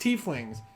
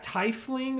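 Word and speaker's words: Tiefling: and he's like yeah tying and I'm like oh Brad so he named a tling player it's like the thief spelling you just don't have the H in the front he named a player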